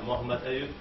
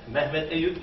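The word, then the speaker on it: Mohammed Ayoob: And now we move on to the last speaker, Mohammed Ayub from Michigan State University. That is, Mohammed Ayub is English pronunciation. Mehmet Ayub is the Turkish pronunciation.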